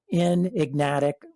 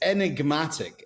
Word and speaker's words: Enigmatic: a fintech company called in ignatic I just messed that up in ignatic how do you say it bish it's enigmatic enigmatic enigmatic smile we're gonna